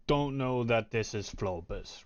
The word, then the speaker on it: Flohbus: It is spelled FLOHBUS. The H is silent, but like flow and bus, just the H Okay.